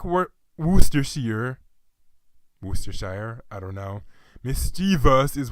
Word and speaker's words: Worcestershire: linking there okay so I'd also think it's pronounced as was just sheer but seriously would steer sheer well no not now you Worcestershire Worcestershire goodness I got old with my terrible